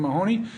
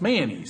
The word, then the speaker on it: Mahoney: Paul, Representative Tim Mahoney. Am I pronouncing that correctly? You are. The reason I ask that is there are some lawyers of my acquaintance who tell me that it's pronounced Mayonnaise.